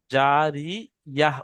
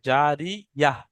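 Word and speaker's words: جارية: অর্থাৎ এখানে থামার জন্য, এই গোল তাটা হায় সাকিন হয়ে যাবে। আর গিয়ে, আর ইয়া আর হায় সাকিন যেমন হয় সেই রকম উচ্চারণ হবে। জারি ইয়াহ উচ্চারণ হবে, জারি ইয়াহ।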